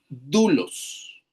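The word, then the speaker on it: δοῦλος: Cuando el diptongo está formado por una omicron y una y oil, se leen como una u. Por lo tanto, ahí se lee du. Y vemos un acento. Así que ahí va el acento en la palabra dulos.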